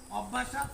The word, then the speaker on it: অভ্যাসাৎ: জ্ঞান শ্রেষ্ঠ অভ্যাস অপেক্ষা, অভ্যাসাৎ মানে অভ্যাস অপেক্ষা। এ জায়গায় লেখা কিরকম, অভ্যাস লেখা দন্তীয়সা আকার দিয়ে বর্গীয়তা, কিন্তু ওটার উচ্চারণ হবে খণ্ডীয়তা, অভ্যাসাৎ, ঠিক আছে?